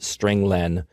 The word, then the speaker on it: strlen: I pronounce it stringlen because it means string length.